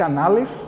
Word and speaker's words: Annales: Que é um dos chamados pais da escola dos Annales, né? Escreve-se Annales, mas o francês pronuncia-se Annales, né?